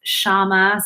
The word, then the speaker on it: Syama: me on maker's row my name is shama so it's not spelled phonetically it's spelled uh s-y-a-m-a um not too many